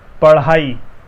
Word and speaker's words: पढ़ाई: ढा का उच्चारण किया, उसी ढा में हम जब जीभ को बाहर फेंकते हैं तो ढ़ा निकलता है। पढ़ाई, पढ़ाई, पढ़ाई, डंका, सॉरी, पढ़ाई।